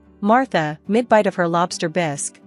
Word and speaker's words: bisque: mid-bite of her lobster bisque which she pronounced bisy with a force accent suddenly fixed me with